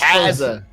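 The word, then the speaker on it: Käse: say is cheese qu qua isaza close close Kaza Kaza Kaza house Cheese House there we go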